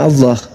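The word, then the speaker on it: الله: deh baik-baik itu ada itu a l a ha itu ada ah iya itu bacanya apa karena ini berasal dari Quran maka kami membacanya Allah lah berasal dari Quran gimana Mana?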